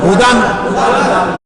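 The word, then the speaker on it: هدى: ইয়া দুই জবর দান, ইয়া খালি শুনেন, ইয়াটাকে শুধু বলবেন কিন্তু উচ্চারণ করা যাবে না। হা পেশ হু, দাল ইয়া দুই জবর দান, হুদান।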